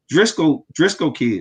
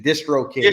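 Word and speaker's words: DistroKid: Once you get your BMI, get your song trust, get your sound exchange, get your Driscoll Kid, if I'm saying it right. Distro. It's short for distribution. Distro Kid.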